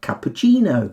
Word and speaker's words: cappuccino: we pronounce cc is in words we've borrowed from italian and with these words cc becomes a ch sound ch like cappuccino oh i'd love one